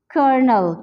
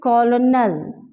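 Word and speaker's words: colonel: We know that, और ये this is not pronounce like this, कॉलोनल, कॉलोनल, यहाँ पे एल नहीं आता, एल हमारे पास बिल्कुल साइलेंट है, एल नहीं आता, बल्कि यहाँ पे आर का जो साउंड है वो प्रोड्यूस होता है।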